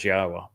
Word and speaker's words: Yahowah: I'm the first to correctly not only pronounce Yahwa's name, but to prove that the pronunciation of his name as Yahwa is accurate and reintroduce you to your God.